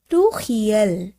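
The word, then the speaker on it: pluriel: প্লুরাল অর্থাৎ প্লুহিয়াল, এখানে উচ্চারণ করব আমরা বহুবচনের প্লুহিয়াল, প্লুরাল প্লুহিয়াল।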